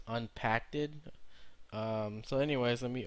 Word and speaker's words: Npackd: Supposed to be pronounced as unpacked. Um, so anyways, let me open it here. Uh, unpacked.